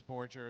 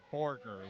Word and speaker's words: Borger: Someone in the chat let me know earlier I pronounced his last name as Borgger as well, but they said it's Borger, like Burger.